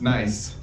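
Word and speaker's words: Gneiss: have decided to play nice stone shield what was that president nice it's spelled like this like the rock type Joe just oh okay what it is pronounced nice yes can I guess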